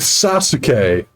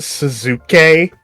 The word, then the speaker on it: Sasuke: Yeah, with Sasuke. And Sakura. It's pronounced Suzuki.